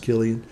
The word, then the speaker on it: Cillian: Cillian Murphy, or Cillian Murphy, I think it's pronounced Killian.